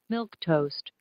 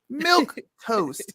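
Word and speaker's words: milquetoast: it does milk toast let's listen to how it's pronunciated milk toast milk toast so he wrote it how it's pronounced and it's a timid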